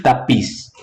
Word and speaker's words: tapiz: A sílaba tônica é a última sílaba. A última sílaba da palavra é tônica, então a palavra é uma palavra aguda, como é o caso das palavras compás e tapiz.